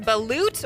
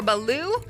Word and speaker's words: balut: This is one that my Navy buddies have told me about, so you're going to find this overseas, and I believe it's pronounced balut or baloo.